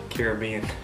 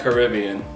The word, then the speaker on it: Caribbean: flavor in this awesome how do you say Caribbean and I like Caribbean but it's like tomato tomahto at the loup-garou beneath